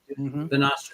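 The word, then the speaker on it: Bonastre: And what's the proper pronunciation? We carry the Bonastra pads ourselves. Bonastra. They're from Spain.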